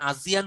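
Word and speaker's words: ASEAN: একজন জিজ্ঞেস করেছেন ভাই এটার উচ্চারণ আজিয়ান হলেও বানানটা হচ্ছে আসিয়ান।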